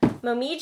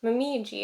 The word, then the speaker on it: Momiji: No, it's Japanese. No, it's definitely not Italian. You can tell I picked this game out and not Mitch. Momiji. That's the only way I'm like reading this in my head now. Right? I think that is how, not quite with that accent, but I think it's supposed to be pronounced Momiji. But in this game, this